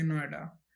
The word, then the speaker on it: नोएडा: लगते हैं ना कि उसके सेपरेट लेटर्स को अलग एन ओ आई डी ए ऐसे नहीं उसको एक इक्वली प्रोनाउंस करने लगे नोएडा तो उसी को हम